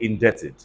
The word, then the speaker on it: indebted: Say indebted. So the B is also silent.